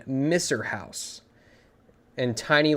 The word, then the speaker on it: Misr: You can see, with that extreme success, you can see the name Misser House in tiny letters at the bottom right. And Misser is spelled M-I-S-R. Mister.